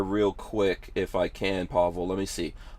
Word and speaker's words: Pavel: on a Wednesday special show we've got uh Pavel is it am I saying that right